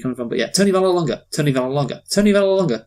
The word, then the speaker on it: Vallelonga: To be Yeah, fair, yeah, I see where you're coming from, but yeah, Tony Vallelonga.